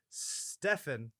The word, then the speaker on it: Stefan: Moving on, written by Stefan, not Steven. I refuse to say Steven if it's spelled with a PH.